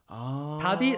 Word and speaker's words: Dabit: So Dabit, although it's spelled differently, it's not the light spelling Dabit, but it sounds like, all light.